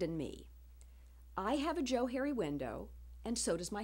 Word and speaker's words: Johari: in 1969 that the Joe Harry window is pronounced as if it were Joe and Harry which is where the